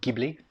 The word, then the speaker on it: Ghibli: i am quite a ghibli fan or ghibli if you are you know want to be phonetically accurate with japanese pronunciation and okay let's transition